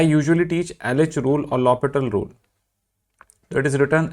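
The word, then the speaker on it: L'Hôpital: And I usually teach LH rule or lital rule that is written L hospital but pronounced lital rule towards the end because I first want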